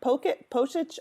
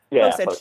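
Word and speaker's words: Pocic: then was replaced by Ethan Posit Poic. I'm just I had I thought I knew how. Posich. There we go. I thought I was pronouncing it right in my head and then my mouth just couldn't make that translate.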